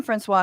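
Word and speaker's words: François: And if all of this sounds head spinning and difficult, leave it to Miriam Francois, I'm sorry, the S is silent. I do not speak French, but Miriam Francois, who I believe is a reporter for Al Jazeera English, was on Sky News.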